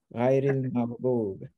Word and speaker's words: غير المغضوب: Oh, it's here is a ghai, re, and that connects with the next verse. Ghairil maghdub.